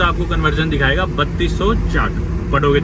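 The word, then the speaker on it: kyat: उसे क्या प्रोनाउंस करेंगे लेकिन बोलते उसे चाट है, चाट। बर्मा करेंसी चाट, चाट, ओके चाट, इसे बोलते हैं चाट। तो एक $1 में आप गूगल पे देखोगे तो आपको कन्वर्जन दिखाएगा 3200 चाट, पढ़ोगे तो क्या बना।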